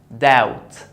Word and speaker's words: doubt: Doubt, doubt. The B is followed by T, so don't pronounce it.